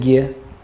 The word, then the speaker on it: Gere: maybe nine or ten right everybody's talking Richard Gary Richard Gary you know who Richard Gary is and today's Richard Gere the time school children because he pronounced g-e-r-e